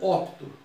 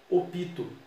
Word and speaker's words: opto: Eu opto. O verbo optar. Opto. Na variedade popular, muita gente fala opito, mas é uma pronúncia não adequada ao português formal.